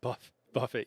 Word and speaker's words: buffet: Uh it's pronounced buff buffet. Yeah. Okay. Uh that's funny. Uh yeah, wing buffet would be fun. Uh buffet is to like Yeah, to hit somebody. Um as opposed to buffet.